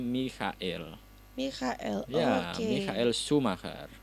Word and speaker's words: Michael: itu sebenarnya tidak dibaca Michael, tapi dibacanya Michael.